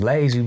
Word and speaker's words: Layzie: I was like, oh, so, well, I'm gonna be Layzie, cause Layzie rhyme with crazy, you know what I'm saying?